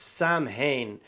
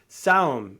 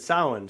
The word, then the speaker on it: Samhain: What it's it's not Samhain cuz they mispronounced that in Halloween, but I forget the actual pronunciation of what it or Samhain, that's it. yeah. Yeah. So, yeah, that's it. Samhain, so um she should she could meet them,